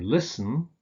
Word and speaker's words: listen: Similarly with words like christen and listen, where you don't pronounce the T.